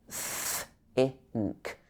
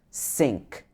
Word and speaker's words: think: For example, in think, think, this should be think, not sink or zinc.